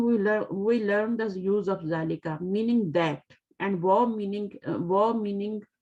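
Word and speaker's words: ذلك: ठीक है, ज़ालिका को आप इस तरह लिखते हैं, बट प्रोनाउंस कैसे करते हैं उसको? ज़ालिका करते हैं, ज़ालिका अलिफ लगा के करते हैं, ज़ालिका। और ज़ाल को आपको पता है नरमी से अदा करते हैं ना, ठीक है, ज़ालिका। बट इट is written without अलिफ, लिखा अलिफ के बगैर जाता है लेकिन पढ़ा इस तरह जाता है, प्रोनाउंस इस तरह करते हैं।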